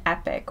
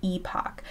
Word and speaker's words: epoch: want to cover is an epic or an Epoch I guess it depends whether you're from the UK or the United States based on how you say it an Epoch is